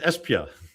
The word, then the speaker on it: Esbjerg: Esbjerg. Well, he pronounced it right. Yeah, he always said Espia. It's like, what? Esbjerg, how do you write okay. there? Like, B. apparently it's an accent thing.